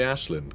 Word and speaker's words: Aislinn: That's right, I'm going to say Ashlin cuz like Aelin is not how you pronounce that name. I don't know why they say it that way. I find it really odd. It's an Irish name.